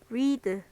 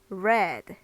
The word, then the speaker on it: read: a 근데 읽는 방법이 레 이렇게 해요 레 read read 이렇게 바뀌게 됩니다 얘는 읽다 얘는 과거 형이니까 읽었다 이요 정도가 되겠죠 그래서 발음이 다르다는 점 쓰는 방법은 똑같지만 발음이 다르다는 거 알아두시기 바랍니다 그다음에 어 완전히 모양이